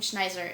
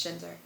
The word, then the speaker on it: Schinzer: schinzer was in it is it Shiner I keep calling him I originally called him schneer and it is not how you say it it is Shiner so um we've kind